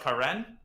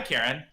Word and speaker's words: Karen: It's pronounced Karen, but people look at it and they're like, what? Karen Gregorian. And they're like, hi, Karen.